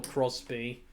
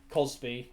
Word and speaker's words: Cosby: came out about Bill Crosby it's a great show which has been which Cosby okay Cosby sorry Cosby Bill Cosby sorry I'm mispronouncing it and such but yeah